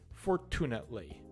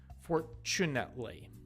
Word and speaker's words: fortunately: there is there so the t and fortunately is not a hard t sound if it was the word would be fortunately fortunately you shouldn't say